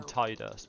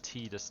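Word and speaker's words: Tidus: game I also called I called him tius because it's just the it seems like the natural pronunciation but then I'm so used to calling him tus now it just doesn't seem unnatural to call him that right we're hoping for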